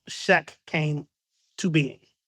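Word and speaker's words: SCHEQ: It's pronounced Shrek, but it's like Shrek, but without the R. But the long version of the name is STEM and cancer health equity. So that's how Shack came to being.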